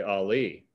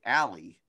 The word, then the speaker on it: Ali: Like, hey man, you gotta say Ali, or this song's going nowhere. Also still fix that somehow. Yeah, there's gotta be a way. Ali, don't you go downtown.